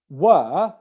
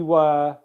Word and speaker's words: were: In the word were, we were practicing together, W-E-R-E. That E-R-E is pronounced okay? Again, no R sound.